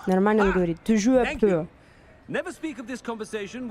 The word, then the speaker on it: Toujours pur: Toujours pur. Нормально он говорит. Toujours pur.